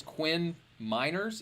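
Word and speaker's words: Quinn Meinerz: sure uh here your um your name is quinn miners is that how you pronounce it because sometimes in the draft class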